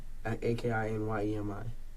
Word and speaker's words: Akinyemi: You pronounce it Akinyeme? A-K-I-N-Y-E-M-I. A-K-I-N-Y-E-M-I. M-I. Okay. And Akinyeme? Akinyemi. Akinyeme.